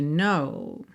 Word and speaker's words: know: The words will never show the you I've come to know. Então, I've come, você não pronuncia a letra E, tá pintadinha de cinza claro. No, tem um K inicial que também não é pronunciado, certo?